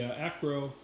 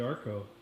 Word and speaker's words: Acro: you recall was the the acro I said it right not the Arco the acro figure break and I